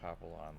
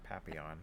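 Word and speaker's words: Papillon: It's really hard to pronounce it the right way. You You just trade the L for You just trade the L for a Y sound. Papon.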